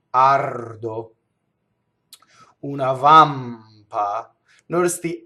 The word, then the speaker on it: ardo: The R in this next word touches the D. Ardo.